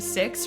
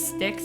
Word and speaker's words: Six: name is Aaliyah and we have this robot named six which I constantly mispronounce as sticks because I'm so used to saying sticks so you're going to